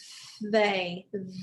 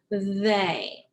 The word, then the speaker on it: they: it starts this word they they but the tricky part is the e y because it's pronounced as a instead of e so that's the tricky part so this is the word they the second one is